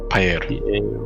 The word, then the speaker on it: Payer: got it p-a-y-e-r but it's like payer but paella okay and like